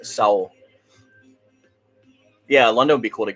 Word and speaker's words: Seoul: you did spell raid it's pronounced soul not seoul it's soul yeah london would be